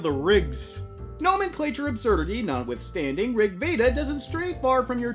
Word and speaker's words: RG Veda: from clamps debut manga Rigveda and yes it is supposed to be pronounced that way since the title is based off an ancient Vedic Sanskrit tome held sacred by the Hindu religion called Rig Veda what does that have